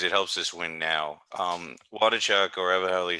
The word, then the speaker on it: Waldichuk: Waldichuk, or whatever the hell you say his name, You got it, Waldichuk.